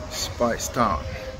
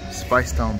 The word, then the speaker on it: Speightstown: nice so that's it spice down spelt like eight but it's pronounced as spice down boston cashier here